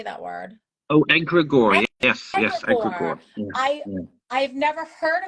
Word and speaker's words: egregore: Egregore? How do you say that word? Oh, egregore.